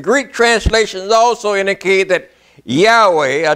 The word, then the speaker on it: Yahweh: and sisters in greek translations also indicate that yahweh a w y a w h a y h w h i'm sorry should be pronounced yahweh yahweh now also let me show you something